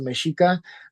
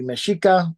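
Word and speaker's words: Mexica: referred to as the mishika as you can kind of see here the X uh especially Nawa has a sh sound right um so that' be mesika uh sometimes you'll be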